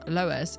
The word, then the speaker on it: Loes: be marveles tomorrow um loes is pronounced loes in Dutch wow that's fun love